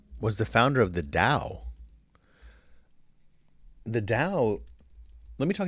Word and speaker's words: Tao: the serious of The Da and how do you spell the Dow t a t o or Dao but usually T it's Tao but you pronounce it da so the philosophy what